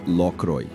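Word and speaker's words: Lockroy: A pronúncia correta é Lroy.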